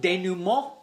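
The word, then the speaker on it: denouement: echo chambers are dangerous it's pronounced de numer while it's certainly important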